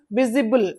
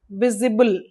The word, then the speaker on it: visible: The root is v i s which which is pronounced as viz. So visible. Ibl is added. It becomes visible. So its sound is taken from the root vis. visible IPA symbol V E V.